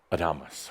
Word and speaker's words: Adamus: Adamus This facet of St. Germain (French pronunciation) that’s called Adamus or Adamus (pronounced Ah-de-mus), I love it.